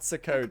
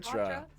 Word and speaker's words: Socotra: Yeah, I think you tried to pronounce Socotra the other day. I was watching your 1v1. It's not Socotra. Socotra.